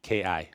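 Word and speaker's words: 気: And any book by Koichi Tohei on Ki, Ki. Like chi, like energy, Well, flow.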